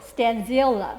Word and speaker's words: Stanziola: Stanziola. Stanziola. There you go. Stanziola. You said it right. Good job. Is that Spanish? No, that's Italian.